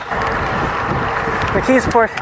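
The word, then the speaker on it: McKeesport: Phonetically, it more resembles Yugaogeni, but it's pronounced almost with a ck. McKisport is a much smaller and much less interesting little suburb.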